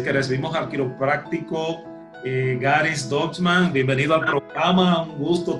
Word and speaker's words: Deutchman: Está con nosotros el doctor Garis Dutchman, ¿así? Dutchman, ¿verdad que sí, Pedro? Así que se pronuncia su apellido. Así es, Garis Dutchman.